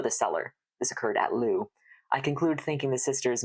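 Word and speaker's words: Loos: the Battle of Lou I don't know that I've ever actually heard it pronounced out loud now that I'm thinking about it but my French Classes tell me that that you do not say that s out loud Battle of Lou took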